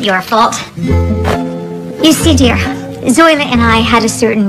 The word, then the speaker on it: Zoila: Now, Zola. Actually, it's pronounced Zoila.